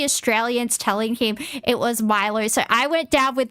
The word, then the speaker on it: Milo: But if somebody tells you it's Australian and it's Milo and he says, no, it's Milo, he's the one that's wrong. It's fine to pronounce, it's obviously fine for the Japanese people to pronounce it like that.